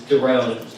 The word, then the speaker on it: Doron: My name is really hard to pronounce. It's Doron, D-O-R-O-N.